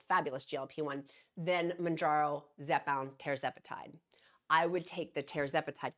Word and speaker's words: tirzepatide: It's tirzepatide, not Tara. It's tirzepatide.